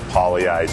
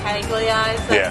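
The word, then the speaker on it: Pagliai's: Okay, what's the worst pronunciation of Pollyeyes you've ever heard? Because Pollyeyes is spelled P-A-G-L-I-A-I-S. Right. What's the most butchered pronunciation you've ever heard? I would say Paglieyes.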